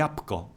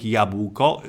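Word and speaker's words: jabłko: little bit we still write yah bucco but pronounce the up calm saying yeah buco is considered an error in pronunciations hyper correction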